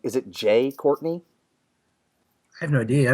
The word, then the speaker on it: Jai: with him in it he is pronounced it jai jai okay thank you so